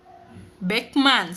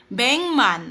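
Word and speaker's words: 백만: Paano siya binibigkas? Beckman sabi ni ma'am QL. Yan. Bengman or pengan po natin.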